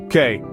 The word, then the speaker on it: que: It's pronounced K. Try it out. K.